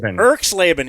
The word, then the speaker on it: Erxleben: Oh, Russell Erxleben. Erxleben.